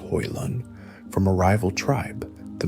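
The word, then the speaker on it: Hoelun: Yesugei had, in fact, earned his own power by seizing Temujin's mother, Hoilun, pronounced Hoilun, from a rival tribe,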